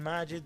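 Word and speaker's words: Majid: the one for um I say captain Magid because that's how you say it in Arabic cuz they renamed him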